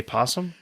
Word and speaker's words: opossum: pot so you set you spell opossum but you say possum possum is spelled with